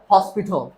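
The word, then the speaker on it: hospital: এইচ এর জন্য কিভাবে? পুরা মুখ খুলে জিহ্বা যত পেছনে, হ হস। ফি ছ হসপিটাল।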